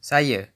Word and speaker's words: saya: Saya, meaning I, is pronounced, Saya.